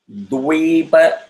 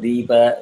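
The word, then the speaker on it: द्वीप: So, dvipa, you start with the V, so dvipa. It is not deepa, it is not dvipa, don't rush.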